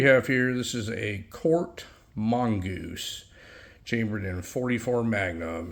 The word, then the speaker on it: Korth: of people pronounce that cor but it's actually a German name and it is pronounced Court so before we go